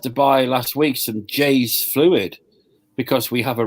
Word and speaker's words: Jeyes: I had to buy last week some Jay's fluid because we have a rat. Now, Jay's fluid is spelled Jeyes.